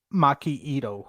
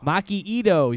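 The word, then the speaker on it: Maki Itoh: Maki Ito. Maki Ito.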